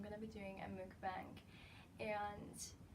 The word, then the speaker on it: mukbang: to be doing a MOOC bank and this is like how I pronounce it some people say funk but I think MOOC bank is the right way to say it but anyway I'm gonna